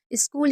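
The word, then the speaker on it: school: स्कूल यानी कि विद्यालय।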